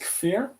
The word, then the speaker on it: Kfir: Oh, is it pronounced Kfir?